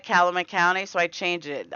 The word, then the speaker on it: Calumet: Oh, someone yelled at me for not saying it right, Calumet County, so I changed it.